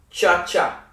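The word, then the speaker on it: चाचा: Cha-cha. Like cha-cha real smooth. Same concept.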